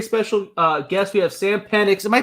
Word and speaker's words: Penix: We have Sam Penix. Am I pronouncing your last name right?